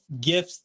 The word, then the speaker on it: GIF: this is it gif gifts gifts there is only one there is any there's only one pronunciation and it's gif and anybody else is